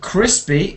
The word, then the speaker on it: crispy: Now, crispy is a short I sound.